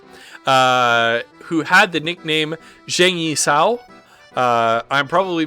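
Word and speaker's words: Zhang Yi Sao: chinese terms yeah it's pronounced like a soft like a soft long j it's my understanding all right so uh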